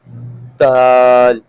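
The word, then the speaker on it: دال: Next is dal, dal, dal, dal. It is a lighter one, just like tha. The pronunciation of both is the same.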